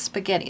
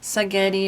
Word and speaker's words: spaghetti: many years ago because no little kid can pronounce spaghetti they say sagetti or you know so we call it sketti that's what we call